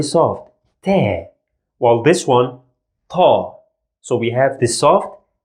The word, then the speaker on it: ط: The first one is also strong, and we pronounce it as Ta. You feel like there is some air going out of your mouth. Ta.